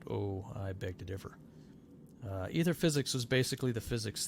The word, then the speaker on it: Aether: AETHER is how it's spelled. It's pronounced ether.